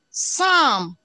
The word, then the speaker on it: Psalm: A-L in Psalm, calm. L is silent.